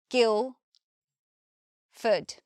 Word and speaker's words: Guildford: I do know that when we say the word Guildford we don't hear the D we just here Gil food and importantly we don't say Ford what Ford we have a Schwar so it just becomes food next we have places